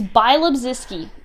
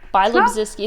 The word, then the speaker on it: Bialobzyski: It's Bialobzyski. Bialobzyski.